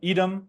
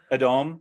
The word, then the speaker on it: Edom: of the Iron Age Kingdom of Edom sometimes pronounced adom I'll be pronouncing it both ways tonight now busera like many